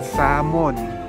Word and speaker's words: salmon: Kung pronounce yun, salmon. Walang L.